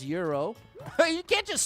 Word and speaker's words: gyro: Is that how you say it, gyro? This is cool. This is actually very cool. It's pronounced hero.